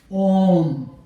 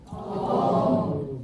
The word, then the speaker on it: Om: So first say Om. Om. Om. Om. So Om should be always sound protrudes from the heart chakra, and you blow from there, and you say Om.